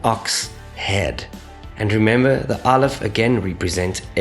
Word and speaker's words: Aleph: The sound of the Aleph is a silent sound. Some people argue that in the ancient world it used to be a guttural stop, like a sound, okay? And this will make sense once we get to the Vowel Point system, where you see, without indicating the vowel sound, the Aleph actually has no sound of its own.